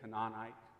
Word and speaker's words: Canaanite: do you know who canaanites are there's another way to pronounce it by the way it could be a canonic that's too hard for me to say canaanite's much easier but you'll find that